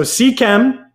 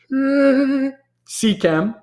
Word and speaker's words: Seachem: Let's see, what's the right way to pronounce Seachem or Ceche? Here you say it differently. So Seachem is this company, right? Seachem.